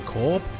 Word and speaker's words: Corp: You never pronounce the P for corp? It just seems wrong. I don't know why. I know that people in France do, but it just feels wrong.